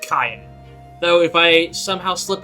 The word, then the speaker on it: Cyan: His name is Cyan, not Cyan like I thought for many, many years. It's pronounced Cyan.